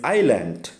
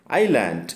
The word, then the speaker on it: island: now let's move on to classes six to eight for the month of August uh first one is island island It's s is silent here imitate essential we have